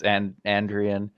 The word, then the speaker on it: Andrion: It's Andrion.